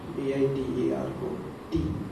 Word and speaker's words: Diderot: The last T is not pronounced, D-I-D-E-R-O-T, Diderot.